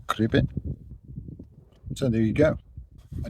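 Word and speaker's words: Cribyn: corn do corn d Caribbean is as it sounds it's got that Y in it but it's in the second syllable so it's a cribbon so there you go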